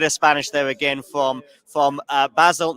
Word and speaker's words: Basel: Is it Basel? How do you say your name? You can say it Basel.